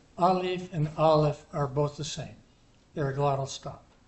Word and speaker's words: aleph: The next thing I want to mention here is, I told you that the aleph is silent, but historically it was a glottal stop.